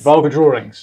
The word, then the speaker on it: VulgaDrawings: Vulgar drawings. Vulgar without the R because it rhymes with vulva.